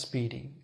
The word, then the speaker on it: SPDY: first of all this protocol called Speedy spdy pronounced Speedy uh Speedy is an